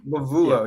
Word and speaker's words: Lovullo: It's spelled like Lovullo, but it's Lovullo. Lovullo, yeah.